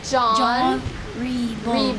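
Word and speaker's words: Jean Ribault: How do we actually say his name in f in the French pronunciation? You want to help Tyia? John. So, John. So, we have this J. So, John Rebo.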